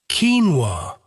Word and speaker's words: quinoa: by confusion and the packaging had to include pronunciation guidance. Keen-wah.